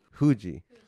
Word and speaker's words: Fuji: pronounce it mount fuji fuji okay so that's how the japanese pronounce it okay do you know